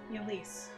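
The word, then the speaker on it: Ylisse: What's the right way to pronounce this? Yulise.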